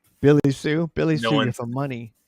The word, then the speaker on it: Hsueh: Just switch the S and the H, and then like don't pronounce like 3 letters.